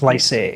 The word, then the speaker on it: Fleiszig: And I pronounced it right. Is that right? That's Fleiszig.